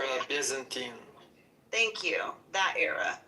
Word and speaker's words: Byzantine: Byzantine.